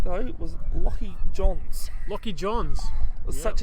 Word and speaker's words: Johns: The ones that realised it, I kept going to say Jones instead of Johns.